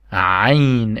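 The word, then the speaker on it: عين: we use it a lot, and it's called Ain, and we don't have it in English. Ain. We spell it like Al.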